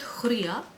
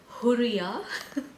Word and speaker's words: Hurriya: Let me start with Hurriya. Hurriya. I know some of these Arabic names are difficult to pronounce, guys, but try to pronounce the R as double R.